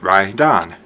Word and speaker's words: right on: When we say the words individually, we tend to pronounce the T. But if I say right on, it sounds like Ryon.